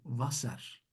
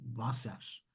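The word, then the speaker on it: Wasser: Efendime söyleyeyim buradaki ingilizlerin W dedikleri harfte de V'yi okuyorlar arkadaşlar. Mesela su Vaser. Tamam. Vaser. Bakın.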